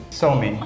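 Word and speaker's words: Suomi: different way in Finland you don't you don't say Finland you say so me so I heard that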